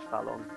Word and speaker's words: Fallon: actually isn't that actually you don't pronounce the weird accent it's just fell on or something so Fallon you are a winner